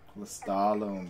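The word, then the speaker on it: Lestallum: Lestalem, that's how you pronounce it.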